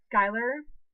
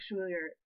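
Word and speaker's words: Schuyler: like is my thing is pronounced like Skyler but it sells SH you y el ER or Shu y la are my things pronounced together I it's from a character in a book from book series but um I i pronounce it like Schuler like yeah like it how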